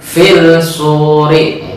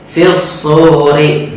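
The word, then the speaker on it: الصور: Shad termasuk alif lam syamsiyah, maka membacanya jangan fil suri, itu salah, tetapi fil suri.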